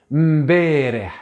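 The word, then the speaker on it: مبارح: Mbereh, j'insiste sur le M pour que vous l'entendiez.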